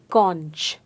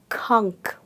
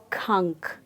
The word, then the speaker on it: conch: Well, to my surprise and yours, it is pronounced as kunk. And I'm going to say it once again. It's pronounced as kunk. So the sound that C makes here is the K sound.